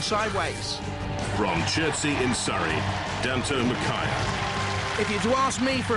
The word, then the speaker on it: Dantomkia: Dantomkia. Dantomkia. Daniel Thomas Kira, my three children.